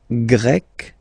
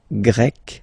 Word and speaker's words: Grec: So you get the country, la Grèce, and then you get Grec, masculine form, Grec, feminine form. You write them differently, but then, if you listen carefully, Grec, you pronounce them the same way, okay?